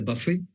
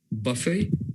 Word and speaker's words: buffet: you can add together buffet okay buffet it's right where t is silent and then the other